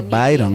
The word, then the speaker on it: Byron: Que, bueno, se escribe Byron, se lee Byron, ¿no?